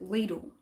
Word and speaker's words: Lidl: They're building a Lidl, and they're putting ads on the radio all the time, and they pronounce it Lidl.